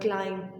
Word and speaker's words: climb: For example, the word climb. Okay, it's the spelling RCLIMB, but we do not pronounce the word B when we talk.